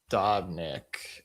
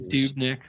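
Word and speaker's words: Dobnak: Uh, Dodnik. And he It's actually Dubnick.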